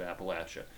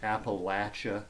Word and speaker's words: Appalachia: the rural parts of Appalachia. The And it, by the way, is pronounced Appalachia, not Appalachia. It's latch.